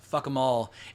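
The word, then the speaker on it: Fackham Hall: It hasn't even been posted yet on YouTube, but it's called Fuck 'em Hall, or Fuck 'em Hall, but pronounced Fuck 'em All.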